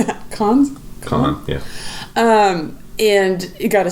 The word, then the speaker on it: Cannes: Cannes, yeah.